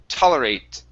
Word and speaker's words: tolerate: Okay, pronounce a small t there at the end. Okay, instead of saying toler with a shh sound, it's tolerate.